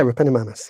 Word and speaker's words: Repenomamus: You're going to have to help me with the pronunciation on this one. Repenomamus? Yeah, Repenomamus, yeah.